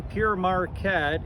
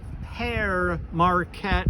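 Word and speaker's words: Pere Marquette: 3 000 horsepower the the railroad name pure marquette is is actually a mispronunciation of pear marquette or father marquette he was a a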